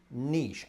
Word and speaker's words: niche: similar in its Niche. spelling to the word cliche, but not in its Niche. pronunciation for either of us. I would say niche, a Yeah.